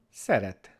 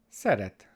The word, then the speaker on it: szeret: And our sound S is spelled with an SZ in Hungarian. We call this S, S, so that's the S sound. And our example word for today is szeret, szeret, to like or to love, szeret.